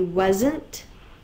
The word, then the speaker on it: wasn't: I'm not quite sure why the A in this word says but it is spelled was, is W-A-S. Z, there's that Z sound, but it's represented with the S.